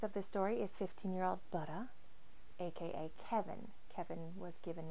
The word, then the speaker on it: Budda: And you have to say it like that, like butter, but with a southern accent. Budda, Budda.